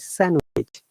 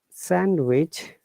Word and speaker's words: sandwich: it we pronounce it sandwich and also hand some similarity okay remember that this is very important for us to know the correct sound sandwich and handsome in both words d is silent so it's sandwich handsome